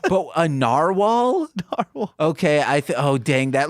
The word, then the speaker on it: narwhal: That's from another podcast that I recorded today, but I couldn't pronounce narwhal. I thought it was narwhal. Oh shit! I was saying it like Nardwal, and I was like, wait, Nardwal?